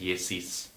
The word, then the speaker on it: Yesis: Looks like Essis, but it's pronounced Yesis.